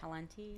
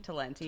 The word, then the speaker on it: Talenti: Talenti. Talenti.